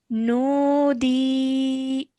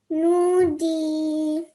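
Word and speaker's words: نودي: So we have to stretch the sound out of D for 2 seconds. Okay, so let's try that. Nudi. Nudi.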